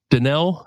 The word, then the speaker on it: Dannehl: Danell, yes. Got it. I know the H is silent.